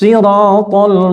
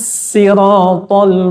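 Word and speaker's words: الصراط: Yang pertama pakai shad. Ihdinas siratal mustaqim. Kemudian yang kedua pakai sin. Ihdinas siratal mustaqim. Tulisannya tetap shad. Ihdinas nas. Itu tulisannya tetap shad, tetapi bacanya dengan sin. Nas. Kemudian yang ketiga, tulisan di situ tetap shad, cuman di atasnya ada tandanya kayak wajik begitu. Itu dibaca dengan za.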